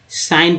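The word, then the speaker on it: sign: नवयुवक बढ़ते हैं या एस आई जी एन क्या पढ़ते हैं साइन कर देना कि अभिजीत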